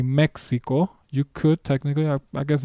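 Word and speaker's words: México: But Mexico is the English pronunciation. In Spanish, the word is pronounced Mexico.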